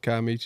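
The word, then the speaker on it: Kiamichi: you know this the Kaichi is how you say it.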